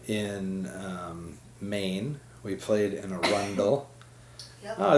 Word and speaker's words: Arundel: We played with Livingston Taylor in Arundel, Maine last night. Did I say that right? Arundel? Yes, Arundel.